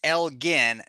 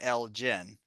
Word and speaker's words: Elgin: And it's Elgin, not Elgin, right?